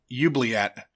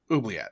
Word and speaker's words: oubliette: Though Jareth and Brian Henson, Bowie and Brian Henson pronounce it differently. Bowie says oubliette, Mm-hmm. and Brian Henson, who's voicing, I think he's voicing Hoggle. Whoever's voicing Hoggle, yeah. it says it oubliette, not Yeah, oubliette.